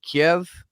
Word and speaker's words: Kyiv: If you say Kiev, which is the Russian, like, traditional, even Ukrainian pronunciation of it, then that's supposedly signifying that you align with Putin on this.